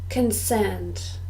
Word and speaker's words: consent: person who does this consent two syllables and we stress the second concerned concerned this is